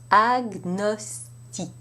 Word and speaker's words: agnostique: And in these exceptions, the G and the N are pronounced separately, as you would have it in English. Répétez après moi, s'il vous plaît. Agnostique.